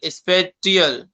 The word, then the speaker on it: spatial: स्पेशल वो स्पेशल नहीं, SPATIAL, स्पेटियल बोल सकते हो इसको आप।